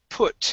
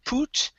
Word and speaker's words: put: have uh the word put instead of pu poot it's poo put okay one more time